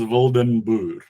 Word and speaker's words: Wildenboer: My surname is, the correct pronunciation is Wildenboer, but here in Australia, that is a hard one. What it means in Afrikaans is wild farmer.